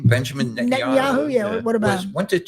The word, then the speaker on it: Netanyahu: Benjamin Netanyahu.